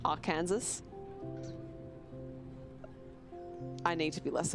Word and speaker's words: Arkansas: I know it's Arkansas.